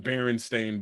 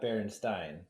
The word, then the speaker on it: Berenstain: Actually it's Stain versus Steen. So Stain is the right one. Berenstain Bears. Berenstain, Berenstain. not Berenstein.